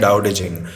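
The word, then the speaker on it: Tao Te Ching: वहां से ये आया डाऊडे एजिंग। यानी उसकी स्पेलिंग होती है टी ए ओ टी ई और सी एच आई एन जी। ऐसे इंग्लिश में ऐसा लिखते हैं पर उसको बोलते हैं डाऊ डेजिंग।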